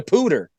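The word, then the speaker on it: Poudre: it up because it's it's spelled p-o-u-d-r-e so I'm like hello yeah I'm like how the hell do you pronounce this the name of this River without screwing it up and I looked it up and it said they were saying pooter on the news it's called it's the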